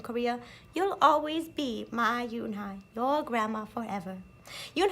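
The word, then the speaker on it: Unhei: Kim and then turned to Joey she nodded slowly yes it's pronounced eun-hye and it means grace mr.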